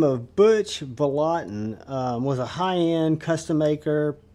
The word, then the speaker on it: Vallotton: And this is the Vallotton, and I think I'm pronouncing that right, Sub-Hilt.